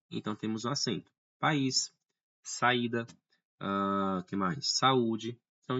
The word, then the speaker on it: país: Não é país, tá? Seria incorreto, não é no sentido aqui, mas sim país, tá? Uma vez que é um hiato.